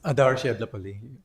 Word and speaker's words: Adarsh Yadlapalli: It's Adarsh Yadlapalli. Close, Sorry, very close. I'm sorry. No worries. Very, very close.